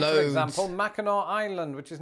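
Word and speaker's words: Mackinac Island: also worthy of your time like for example Mao Island which is not pronounced maak island or instead of Orlando Florida check out St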